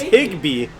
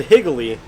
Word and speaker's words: Higbee: tight end piggy lee stan you're pronouncing their names right here it's higbee that's what i said you said higgly james connor okay 18